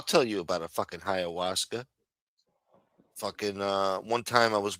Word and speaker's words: ayahuasca: Yeah, because I mispronounced what the fuck she was, and I didn't know how to say it. Ayahuasca. Ayahuasca.